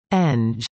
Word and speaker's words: Eng'g: The college is also known formally as UPCO, CO, and informally as Engineering, pronounced Eng.